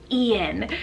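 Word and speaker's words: Eun: the girl side and it's the name ian but spelled e-u-n ian now this one is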